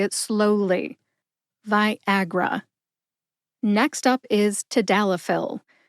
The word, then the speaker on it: Viagra: North American waterfall Viagra has three syllables VI like the color violet a like Agriculture and R like Rush put that all together and you get Viagra emphasize a see if